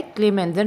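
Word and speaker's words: Clemmensen: Start C से हो रहा है लेकिन दोनों की आवाज़ किससे प्रोनाउंस हो रही है? K से।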